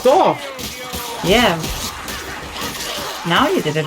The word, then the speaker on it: Dorf: your pronunciation of Dorf is so wrong. It's Dorf.